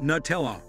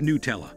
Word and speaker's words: Nutella: Nutella, the hazelnut spread is pronounced Nuh-tell-ah, right?